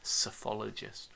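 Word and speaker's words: psephologist: media in general uh cyphologists people who look at voting patterns um there's another key term for you there sophologist with a p uh at the beginning of silent p uh another term is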